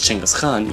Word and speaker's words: Genghis Khan: 1205, when someone named Temujin, later known as Genghis Khan, yes that's how it's pronounced, decided that he also had enough of this, and decided to unite the Mongol tribes against China.